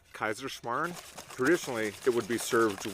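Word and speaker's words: Kaiserschmarrn: on a classic austrian dessert i think it's pronounced kaiserschmarn traditionally it would be served with preserved fruit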